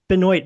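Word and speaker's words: Benoit: And then Benoy Benoy Benjamin, not Benoa Benjamin. Right. Yeah, Benoy Benjamin. Benoy Benjamin. Yeah, I was about to say Benois Benjamin that I immediately remembered. I haven't pronounced that name out loud in Yeah.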